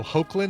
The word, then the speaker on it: Hoechlin: he'll not be no hoechlin is that's how it's pronounced thank youbut on to